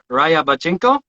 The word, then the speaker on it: Ryabchenko: curious i think it's uh let's see eugene raya bachchinko almost i'm going to try